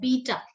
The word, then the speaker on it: beta: is called beta okay we are writing it bet ta but we pronounce it beta okay this these alphabet